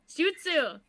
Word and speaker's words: jutsu: the spell followed by i'm going to say it wrong do you juice you i can't say it yeah you got it jutsu jutsu in order for it